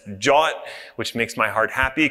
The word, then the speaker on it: JWT: The solution, naturally, is OIDC and JWT, which is pronounced Jot, which makes my heart happy because I'm from Philadelphia and we say John, and it's very close.